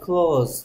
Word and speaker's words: close: 자, 조심해야 될건 S의 발음입니다. 닿다일 때는 close, close. Z 발음은 Z 발음. 닿다, close. 근데 가까운 친구 할 때는 close, close friend, close friend. S가 S 발음됩니다. 발음에 따라서 뜻이 달라집니다. CLOSE를 close라고 읽으면 가까운, 친밀한. close라고 읽으면 닿다.